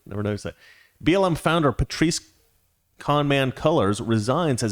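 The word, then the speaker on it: Patrisse: police it's funny that her name rhymes with police i never never noticed that blm founder patrice con man colors resigns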